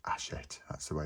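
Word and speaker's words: Hachette: for you I think he might be right ashet that's the way it's pronounced now I've said that about four times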